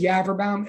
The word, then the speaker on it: Yaverbaum: My name is Yaverbaum, and like serious. Okay, it rhymes with cadaver town, if that helps anybody, especially you forensic science people.